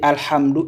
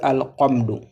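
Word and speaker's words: الحمد: Donc on vous dit alhamdou, il ne faut pas dire alamdou. Hm hm. Il ne faut pas dire al c'est alhamd H a al hamdou alamdou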